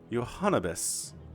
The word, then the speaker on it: Johannibis: Oh, that's how you say it. Johannibis. It is like cannabis, isn't it?